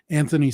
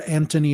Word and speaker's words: Anthony: But on IMDb, by the way, his name is spelled Anthony with no H. I did not know that. Yeah. With or without an H, that's how British people pronounce it anyway.